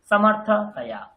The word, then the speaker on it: समर्थतया: তাহাটাকে কেটে বাদ দিয়ে দিন, তার আগের সিলেবেলটাকে একসঙ্গে উচ্চারণ করুন, তয়াটাকে একসাথে উচ্চারণ করুন।